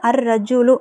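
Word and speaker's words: الرجل: இங்க நான் வந்து அர் ரஜூலு அப்படிங்கறத யூஸ் பண்ணிருக்கேன். சோ அதனால ரா அப்படிங்கறது வந்து ஷம்சியாவுடைய எழுத்து அப்ப லாம் உச்சரிக்கப்படக்கூடாது. அர்ரஜுலு.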